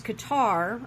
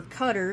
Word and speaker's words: Qatar: into it one source is Qatar or Cutter depending on who you talk to how you say it pronounce it um and the other